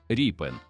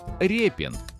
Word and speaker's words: Рєпін: Саме звідси походить його справжнє прізвище Ріпен. від слова ріпа, що було характерним козацьким прізвиськом. Він сам підписував свої роботи як ріпена. І літера ять у цьому випадку читається як і.